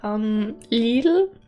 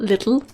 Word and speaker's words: Lidl: Like, Lidl, that's how you pronounce it, by the way, it's not little.